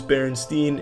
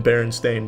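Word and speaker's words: Berenstain: But for now, I'm going to keep knowing that it is Baronstein. And anything short of that, I just will not accept. I would rather watch the world burn to ash than accept that it is always been Baron Stain Bears.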